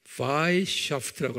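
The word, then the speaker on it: Weishaupt: 그 사람 이름이 아담 바이샤프트라고 그래요. W-E-I, 독일 말은 W를 V 발음하거든요.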